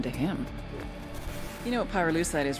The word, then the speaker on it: pyrolusite: him you know what pyrolusite is right yeah no they did i Pyrrha lucite key syllable pyro by the way is